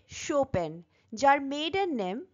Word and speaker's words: Chopin: রিডারের অন্তর্গত গল্পটি লিখেছেন কেট শোপেন চপি নয় উচ্চারণটা খেয়াল রাখতে হবে শোপেন যার মেডেন নেম বা